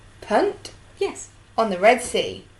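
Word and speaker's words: Punt: African Coastal land of it it is say what you see Punk yes on the Red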